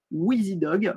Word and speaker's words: WIZIDOG: Ça s'écrit WIZIDOG. Wheezy Dog.